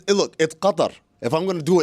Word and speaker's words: Qatar: It's Qatar. It's Qatar.